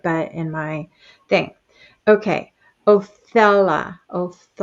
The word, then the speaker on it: Othala: Othala. How you say? And Odala. That's how you say this. Odala.